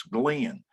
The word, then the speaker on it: Glenn: And so in 1977, there were a whole bunch of people that said to me, hey, Glenn, and Glenn is a 2-syllable name here in Texas, Glenn.